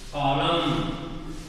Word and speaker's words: column: Column. Column. Here N is silent.